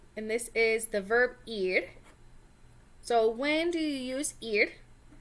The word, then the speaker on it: ir: this is the verb ear so when do you use and it's pronounced ear like the body part ear okay not like er or however else you might pronounce that ear like your ear okay so ear means